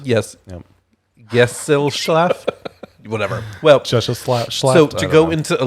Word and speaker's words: Gesellschaft: Gesellschaft. Schaft. I know the last part of it is shaft. Yes. Yep. Gesellschaft. Whatever. Well, Gesellschaft.